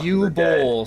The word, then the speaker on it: Uwe Boll: It's pronounced U-Bowl, says Doom.